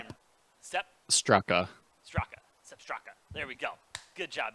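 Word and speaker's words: Sepp Straka: Sep Straka.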